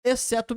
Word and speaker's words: except: Nota como que fica a letra muda, né? Except my mother. O T some, né? Except my mother. Except my mother. Como se não tivesse o T.